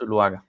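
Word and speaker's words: Zuluaga: is it yeah it's sulwaga we don't like that yeah in colombia we don't pronounce the z like like it should have that z sound it's almost like an s so it's luaga all right well good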